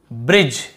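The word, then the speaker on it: bridge: यहां पर भी देखिए डी भी साइलेंट है और ई भी साइलेंट है दोनों आ गए ब्रिज वाले में तो यहां पे आपने देखा से बाइक type A नेमे shine change ब्रिजे ऐसे तो नहीं पढ़ रहे ना तो ई को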